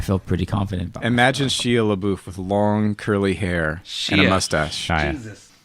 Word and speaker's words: Shia: Shia LaBeouf. Listen, Shia is the more French pronunciation.